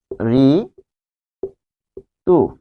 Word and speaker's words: ঋতু: যখন আমরা রি পাবো, যেমন ঋতু, এটি হবে রি তু, একদম সহজ, রি থাকলে রি হবে।